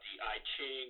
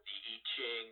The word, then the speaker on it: I Ching: marianne faithfull were ruling I Ching or teaching or however you want to pronounce it and it's a fortune-telling